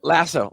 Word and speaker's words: Laso: podcast today noah is going to be discussing lasso i think i'm pronouncing that right he'll correct me if i'm wrong and is it right yeah iso 1s lasso lasso okay and it is like the amazon